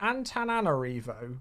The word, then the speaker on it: Antananarivo: Antananarivo. There's an extra nan in there. Antananarivo. Yeah, there we go.